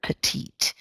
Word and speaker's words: petite: Okay, she's a petite woman. It's a French word, petite, and pronounced in kind of a French way.